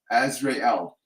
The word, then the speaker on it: Azrael: the name as as the pronunciation I get is Azrael a-z-r-a-e-l as Ray L um says that you're